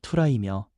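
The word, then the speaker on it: θύρα: 문이라는 헬라어 발음은 투라이며 우리의 마음과 존재 전체를 의미합니다.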